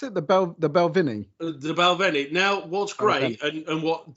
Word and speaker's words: Balvenie: And how do you pronounce it? The Balvenie. The Balvenie.